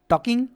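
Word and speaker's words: talk: হ্যাঁ, এখানে আবার টলকিং পড়ো না, হ্যাঁ, কারণ টি এ এল কে, ঠিক আছে, এটা টক উচ্চারণ হয়, মানে এই যে এল এল যেটা আছে এল যেটা আছে এটার উচ্চারণটা উজ্জ্ব থাকে, মানে এটাকে বলতে হবে না। ওকে, মানে উচ্চারণটা যখন করবো আমরা তখন এইরকম টিএকে টক, ঠিক আছে, এরকম টাইপের আমরা উচ্চারণ করবো।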